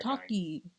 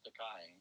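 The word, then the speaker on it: Takei: No, it's George Taki. Oh, it's George Takai. Takai. Yeah. I love Star Trek. I love how do you say it? I love not George Taki.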